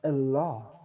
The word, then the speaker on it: Allah: hear them say allah they don't pronounce it with a kamatsu pataka that that ah they pronounce it with the sego they say allah and law so mind